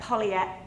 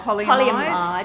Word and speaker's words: polyamide: So, this is a 50% viscose, 30% polyam How do you say that? polyat Oh, polyamide. polyamide, 20% polyester.